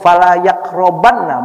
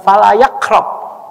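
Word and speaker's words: فلا يقربن: Itu kalau kita baca ya, kata yang diucapkan oleh Rasulullah, fala yaqrabanna, bukan cuman fala yaqrab, bukan hanya jangan mendekat, tapi ada nun di situ, nun taukid sakilah.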